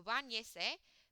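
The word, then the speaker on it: báñese: I have to attach an accent on the second to last vowel or second to last syllable of the verb itself. So bañese, bathe yourself.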